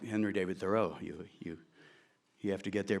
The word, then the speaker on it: Thoreau: brother's death, a 27-year-old man named Henry David Thoreau, and that is the correct pronunciation, by the way, he pronounced it Thoreau, who was considered to be something of an